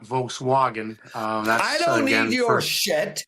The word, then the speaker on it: Volkswagen: It's Volkswagen, not Volkswagen. I don't need your shit. First and you are foremost. wrong. You are wrong, Matthew. It is a German name. The Germans pronounce it We're not Wagen.